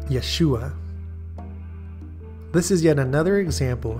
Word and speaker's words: Yeshua: name as it appears in Hebrew and the pronunciation Yeshua this is yet another example from a list